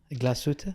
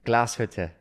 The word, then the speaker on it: Glashütte: How do you pronounce Glashütte? Glashütte? Glashütte.